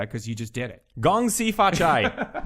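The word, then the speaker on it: 恭喜發財: you just did it gong SI fat Chai that's how you say it anyway uh the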